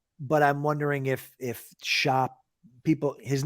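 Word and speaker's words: Schopp: talk uh but but I'm wondering if if Shop people his name is is pronounced shop but now that you've met now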